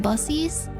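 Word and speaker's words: Buc-ee's: friendly friendly boner tingle it's pronounced busies okay a lot of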